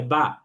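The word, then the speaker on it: ب: একটা হচ্ছে যে 2টা ঠোঁটের যে ভেজা অংশ, 2 ঠোঁটের ভেজা অংশ, এই 2 ঠোঁটের ভেজা অংশ যদি আমরা মিলাই তাহলে সেখানে উচ্চারণ হয় বা।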